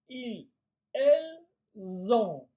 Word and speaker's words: ils ont: nous avons vous avez ils Zon. Attention à la prononciation il z. Voilà, c'est pour faire la différence avec ils sont du verbe être.